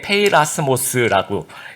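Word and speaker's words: πειρασμός: 읽을 때 페이라스모스라고 읽는데 문맥에 따라서 2가지 의미로 이제 해석을 하게 됩니다.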